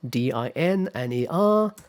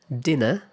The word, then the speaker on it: dinner: In American English, it is pronounced with an R-colored vowel, so er er er er uh uh er er er dinner dinner dinner dinner Okay.